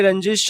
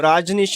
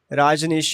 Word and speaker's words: राजनीश: अरे रंजीश भाई, कैसे हो? राजनीश, सॉरी मैं हमेशा तुम्हारा नाम गलत प्रोनाउंस करता हूँ। राजनीश ।